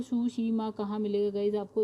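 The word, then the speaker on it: Tsushima: तो गाइस यहीं कहीं मिल जाएगा आपको सुसीमा भी। तो सुसीमा कहाँ मिलेगा गाइस आपको, ये देखिए लिखा हुआ है, टी से स्टार्ट है स्पेलिंग, लेकिन ये एस देखिए सुसीमा लिखा है, राइट।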